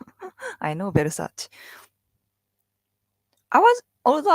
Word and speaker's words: Versace: Although I wasn't really sure it's pronounced as Versace in English because I mean Japan does that too, but sometimes English some changes European brand, the pronunciation of the European brand, right? And sometimes it's different from Japanese pronunciation and English, but seems like we call them Versace, Versace, Versace. A little bit different.